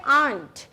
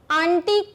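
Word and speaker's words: aunt: आंट, अब इसका मतलब होता है चींटी, और एक होता है आंट। आंटी कुछ नहीं होता, आंटी जैसा कोई वर्ड इंग्लिश में नहीं है, ठीक है, आंटी नहीं कहेंगे हम कहेंगे आंट।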